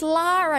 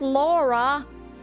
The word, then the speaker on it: Lara: Val well the spell it's Lara not Laura why why it's Lara